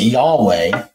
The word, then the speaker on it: Yahweh: just start with the basics here um we pronounce it Yahweh and when you see in the Bible when